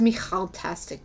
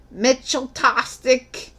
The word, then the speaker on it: Michaltastic: It's pronounced Michaltastic, by the way. And yeah, people couldn't pronounce it. They were like, Mitchell-tastic.